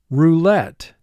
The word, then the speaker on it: roulette: play the roulette table roulette two syllables first syllable two sounds let three sounds let mark the word let we underline the three under the e because of the silent e at the end of this syllable vowel group three would normally be in effect with the silent e at the end of the syllable but in this instance the first e is representing the short e sound discourteous discourteous never be